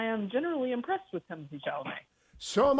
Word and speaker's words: Chalamet: Chalamet. And it's a fine film. Have you seen it yet? I have not seen it, but I'm interested in it, and I am generally impressed with Timothy Chalamet.